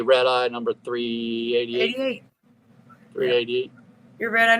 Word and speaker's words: RedEye: all right rede 18 is that how you say it red eyee yep so you say red eyee number 38888 388 your